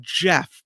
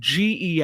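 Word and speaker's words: Gef: His name is I want to say Jeff, but it's spelled G E F. So, GE or Jeff. I'm saying Jeff.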